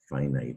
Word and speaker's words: finite: limited finite you do pronounce night as though or night finite and that's because of the open syllable the stress and the open syllable phi knight but indefinite the stress is